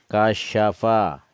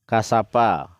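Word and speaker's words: كشف: Kasyafa, ini SYA, sya, bukan TSA. Jadi kalau orang baca kasapa, nah itu dia jadi sin, bukan jadi shin. Ini huruf sin, 3 lengkungannya ke atas. Jadi membacanya itu boleh pelan. Kasyafa. Ulang lagi. Kasyafa. Jadi harus terdengar syanya itu.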